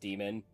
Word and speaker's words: daemon: um, Also, yes, I say Damon, even though it is definitely technically supposed to be pronounced demon, because otherwise I have to